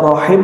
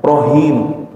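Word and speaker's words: رحيم: Bismillahirrahmanirrahim, harusnya rahim dibaca rohim.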